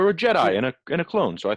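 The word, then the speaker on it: Je'daii: Most of it has been it talks a lot about the Jedi, not the Jedi, the Jedi. It's different, it's spelled funny.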